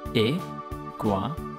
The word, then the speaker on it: Iguanodon: Iguanadon.